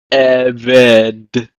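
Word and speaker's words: עֶבֶד: Masculine Segolate nouns are stressed on the initial syllable, which is the original only syllable in the singular absolute form. For instance, Eved, meaning servant.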